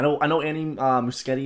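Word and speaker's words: Muschietti: I know any uh muskete is how you pronounce his name I know he says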